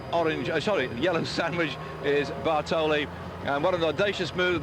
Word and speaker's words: Bartoli: has gone and taken bartelli Bartoli with him I'm missing out one syllable there but I tell